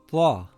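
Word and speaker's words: طاء: This letter is called ta. Ta is a heavy letter. The closest letter would be the letter T and the letter ta, but it is pronounced with a heavy sound, ta.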